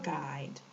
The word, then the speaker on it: guide: U is also silent, and this is a great term, especially used when traveling, because the letter here is silent in both words. Tour guide, tour guide, okay? We cannot hear a U or an sound in the word tour or in the word guide. It's silent.